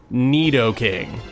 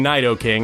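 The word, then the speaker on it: Nidoking: I can do this Neo king that's how you say it right I mean I spent like 14 years saying nighto King and it wasn't until I read YouTube comments from you guys that I realized I had been saying it wrong but anyway can this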